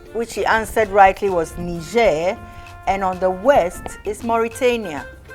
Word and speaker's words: Niger: eastern border of mali niger niger niger it's pronounced niger but you got it right you pointed to the right country and you pronounced you said niger but it's actually niger okay all right but you got it right